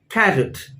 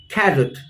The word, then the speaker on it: carrot: see the pronunciation is carrot right the stress is on the first part of the word carrot so repeat the pronunciation